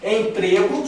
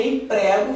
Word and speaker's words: emprego: A grafia é igual, mas a pronúncia é diferente. Aqui a gente tem um um ezinho fechado, emprego. E aqui a gente tem um ezinho aberto. Emprego. Égo, tá certo? Eu emprego. Eu emprego.